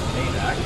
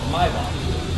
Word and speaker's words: Maybach: It is not pronounced Maybach, no matter what the cross tells you. It is Maybach in the traditional German.